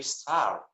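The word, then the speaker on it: سر: In Persian, we say sar, head. Yes. That one, yes. That's pronounced exactly the same.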